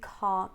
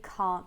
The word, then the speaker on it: can't: will help I genuinely can't remember I genuinely can't remember you can notice that she doesn't say the T at the end of can't yeah she uses a glottal stop instead so sometimes we have